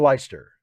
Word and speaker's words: Leicester: that i've ever seen uh christiacity can i pronounce worcester and leicester is that right is it leicester worcester and leicester right that's correct lisa garrison did i watch